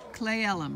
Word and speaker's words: Cle Elum: a hug Oh you're pretty nice so clay LM right that's how you pronounce it and this is an eating area